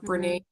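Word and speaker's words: Bernat: think i i believe burnett premium yarn or brene however people want to pronounce it i'm pretty sure i'm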